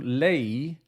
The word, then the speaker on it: Lae: When Earhart and Noonan left Australia, they went to Lae, that's spelled L-A-E, in Papua New Guinea.